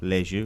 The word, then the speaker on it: Le Jus: How do you guys pronounce the beer? Les Jus. Le Jus. Yes, French for the juice.